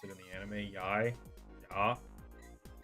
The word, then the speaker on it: Yai: This person's name is Yai, by the way. I think that's how they pronounced it in the anime. Yai. Ya. It's Yai.